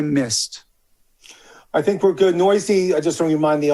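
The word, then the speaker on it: Neuse: him and that's sheldon noisy um it's spelled weird n-e-u-s-e but it's actually pronounced noisy he qualifies at first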